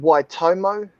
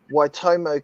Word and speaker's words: Waitomo: underneath the ground right that's spelled uh w a i t o m o y you can see the people how big that is compared you say it you just you say it like white homo homo they don't